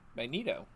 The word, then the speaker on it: Magneto: How do you say magnet? Just like you did. Okay, you say it. Magnet. Now put an O on the end. Magneto.